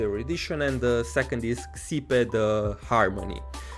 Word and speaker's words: Xipe: is Xipe, the harmony, which is pronounced Sipe. I always pronounced it Sipe, but in the game Welt either Welt or Himekon, I'm not sure, pronounced it Xipe, so I guess this is the correct pronunciation.